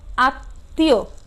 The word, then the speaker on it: আত্মীয়: দেখো একটু খ নাম্বার কি আছে, দেখো পদের মধ্যে বা শেষে মফলা যুক্ত হলে সে বর্ণের কি হয়, দ্বিত্ব হয়, অর্থাৎ কি হয়, দুইবার উচ্চারিত হয় এবং সামান্য নাসিক্য স্বর হয়, মানে নাক দিয়ে উচ্চারণটি হয়। যেমন আত্মীয়, এখানে শিক্ষার্থীরা দেখো সরায়া